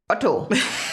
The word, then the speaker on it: Otto: anything second one is otto otto that's the german pronunciation it's the auto group